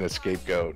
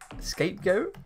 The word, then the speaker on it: scapegoat: or x8 ditch déjenos scapegoat is spelled SCA PE not escape like the SCA PE because the way I always heard it maybe people just said it wrongly around me or just picked up it wrong like the scenario is